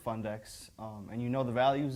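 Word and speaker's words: Fundecks: Well, I tell you what, Fundex is a great idea, and just the way it's spelled, F-U-N-D-E-C-K-S. Fundex.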